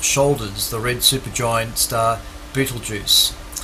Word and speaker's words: Betelgeuse: the red supergiant star betelgeuse beetle gows i think they also pronounce it as which has an obvious